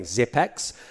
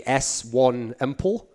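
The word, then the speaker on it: s1mple: Since all these commentators keep insisting on saying Zipex, his name's actually S1 Empel. That's actually how you have to pronounce it, I'm afraid.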